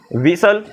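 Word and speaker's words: whistle: एस टी ल आई विसल अच्छा इसे क्या खाओगे सर क्रिसमस लिखा क्या बात करते हो यहां पर एस टी को देखना लिसन में इसे सबोला बिसल में इसे सबोला और क्रिसमस में भी इसे सब बोलो कुछ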